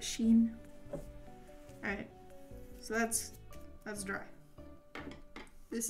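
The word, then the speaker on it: Shein: It came on like a cheap keychain AirPod case that I got off of I think it was Shine. However people pronounce it. I pronounce it Sheen.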